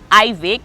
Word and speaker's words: Ivyic: This is Trending Star, and today we have Ivyic. Did I pronounce that correct? Yep, that's correct for the first time.